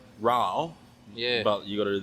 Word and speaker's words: Rauch: Sorry, I was going to ask how do you pronounce it, because I always thought it was a rack beer. I think it's Rauch.